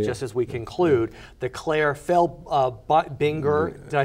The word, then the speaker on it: Claire Felbinger: And you won, and if I may say, just as we conclude, the Claire Binger, did I say it right?